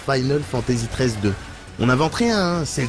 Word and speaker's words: Final Fantasy XIII-2: en RPG bah apparemment ça se prononce Final Fantasy 13 2 on invente rien c'est